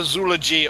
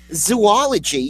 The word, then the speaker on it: zoology: for that zul g there is no zoogy only zoy zoology it seems like that's the way you should say it zoology because we know you're talking about a zoo exactly that's right when